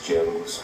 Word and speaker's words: Django: ao colocar os dois jangos um do lado do outro nessa cena do balcão onde ele se apresenta e fala que o d é mudo e o Jango clássico